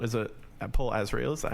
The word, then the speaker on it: Azrael: Lucid with another rapper called, is it Paul Azrael? Is that how you pronounce it? Yeah, Azrael, yeah.